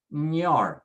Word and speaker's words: señor: So for example, you see the word señor, it ends with an R, a consonant. So we say señor and do that NY sound, ñor, say señor, señor.